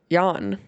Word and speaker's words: Jan: Next up was Jen and not Jan, but Jan. So Alfonso Ribeiro, the host, said Jan. And so I believe that is the correct pronunciation of Jan Ravnik.